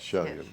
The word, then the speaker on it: Chelyen: Chelyen. Yes. Not like the West Virginia town, Right. but Chelyen from the Fredericksburg Freelance Star.